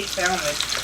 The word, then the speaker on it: salmon: So, yeah, this salmon is, how do y'all say salmon? Salmon. People say salmon, right? Like the L is silent.